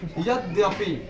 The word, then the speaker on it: यद्यपि: तो जो देखिए यहाँ पर मैंने लिखा ना, तो इसको पढ़ते हैं हम लोग उच्चारण के तौर पे यद्यपि, यानी इसको अगर हम